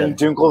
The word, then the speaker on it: Dunkel: an Austrian German family, you learn how to say things correctly. Exactly. All right, we'll say Dunkel. Yeah, Dunkel is how you say it.